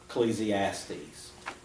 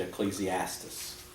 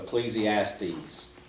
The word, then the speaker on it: Ecclesiastes: and life's journey okay please II ass tease some will pronounce it Ecclesiastes so please II asked these here the question is